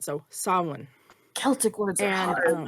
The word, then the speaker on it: Samhain: And so Samhain, Sam Hain becomes Samhain. You're not fully making the M, and you're kind of blowing through it. So Samhain.